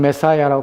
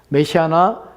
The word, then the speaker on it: 메시아: 그다음에 히브리어의 메시아 영어로는 메사라 표현 우리가 발음하지만 메시아라는 것이 정확한 히브리어 발음입니다 메시아 또한 크리스토스 동일한 단어입니다이